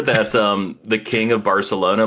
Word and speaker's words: Barcelona: um the king of Barcelona like the reason they speak with like a lisp in in bar Spain like it's it's not Barcelona it's Barcelona and the reason like